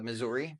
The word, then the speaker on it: Missouri: the lovingly refer to as the state of Missouri. Okay. Even though it's technically pronounced Missouri, right?